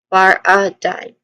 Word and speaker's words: paradigm: stressed a vowel sound so bar a dime and lastly dime which is like the coin dime this is the third part it is pronounced as dime like the coin I've mentioned earlier it has a dip thong in middle.